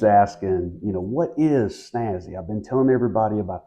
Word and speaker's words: SNASY: the word snazzy again it's pronounced like snazzy with a z but it's spelled with an S and and it stands